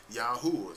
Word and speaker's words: Yahuwah: But I already showed you in the Strong's Concordance number 3068, when you see the Lord, that means those four Hebrew letters is pronounced Yahuwah or Yahuwah, okay?